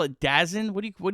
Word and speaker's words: DAZN: What do you What do you call it? What's the What do the kids say? I don't know. Someone in the YouTube comments said I said it wrong, but I it's Dazn.